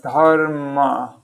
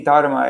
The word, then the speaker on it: dharma: In Sanskrit, you always pronounce the A at the end.